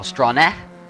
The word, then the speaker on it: Strahn: So as we watch the field go around, it's Eric Strahn, or Strahne, as he was telling me. Is that how you pronounce it, Strahne?